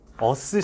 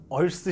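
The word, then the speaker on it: earth: 아, 발음. 어스 시키는 거 아니고요. 얼스 시킨다라고 해야 되는데 뭐 그런 말인데, 접지 시킨다라는 거 기호상으로는 이렇게 합니다.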